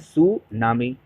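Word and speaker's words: tsunami: उसको बोलते हैं सुनामी टी साइलेंट रहते इसको बोलते हैं सु नामी सुनामी बोलते हैं कब जो अर्थ ओशन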